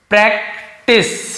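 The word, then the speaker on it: practice: फिर वैसे लिखा प्रैक्टिस, सी के साथ ई हो, आई हो, वाई हो तो स पढ़ते हैं, प्रैक्टिस।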